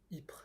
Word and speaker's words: Ypres: I assume you pronounce the Y as Yep, but it's Ypres. So, Ypres.